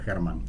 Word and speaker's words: Herman: Germán es alemán el nombre, es con H, pero bueno, se pronuncia Germán. Me pueden decir Herman igual porque...